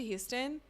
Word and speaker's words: Huston: Oh my God, Sam and I, it's Angelica Huston because I used to say Angelica Huston, and Sam was like, you literally have 2 of her books and you've read them, and that's not how you pronounce her name. I think that this is a New York issue because you get so used to Houston when it's spelled as Houston, and then anytime you